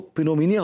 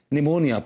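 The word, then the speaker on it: pneumonia: की थी तो उसको पिनो मिनिया हो गया था भाभी जी न पोनिया निमोनिया साइलेंट है यार ये बकरी बकरी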